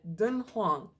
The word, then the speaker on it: Dunhuang: One of them would be Dunhuang. Dunhuang? Is that right? Dunhuang, China. How do you say it? Dunhuang, China. Dunhuang, China. Dunhuang. Okay, I got it. Dunhuang.